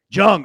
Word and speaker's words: Jung: i get it right yeah under four now jung okay perfect i want to make sure i got that right volkanovsky jung under four and a half rounds at plus